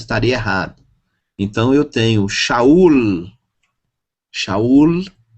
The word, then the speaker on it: Saul: Uno lugar né mas em hebraico não a pronúncia estaria errada então eu tenho Saul chaurlo é uma palavra terminada com Lambert ok não Israel e não chau valor transiteração M fonético M valor numérico 40